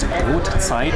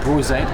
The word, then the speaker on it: Brotzeit: It's pronounced Brotzeit, not Brotzeit, as you would say in Singaporean.